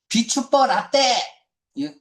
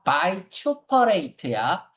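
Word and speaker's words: vituperate: 비추버라떼.이 카페 커피 이름 아니야. 비추퍼라떼가 아니라 바이추퍼레이트야. 어렵습니까?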